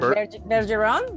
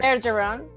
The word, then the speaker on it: Bergeron: How do you pronounce that? Bergeron? Bergeron? Yep. Mm-hmm. Yep, Bergeron. Yep. In Spanish, it's Julia Bergeron. Oh, okay. Bergeron.